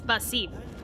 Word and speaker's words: Basim: His name is Basim. I have been saying his name wrong the entire fucking time in Valhalla.